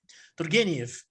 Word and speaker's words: Turgenev: Eu não sei se eu estou falando certo, como é que se pronuncia o nome dele? Turgenev. Turgenev.